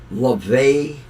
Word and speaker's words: Laufey: But has anybody heard this 24-year-old singer by the name of LaVey? Her name looks like Laufey.